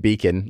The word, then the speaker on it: BEACN: So we just dropped the O and made it Beacon like that, which then, of course, people say bacon.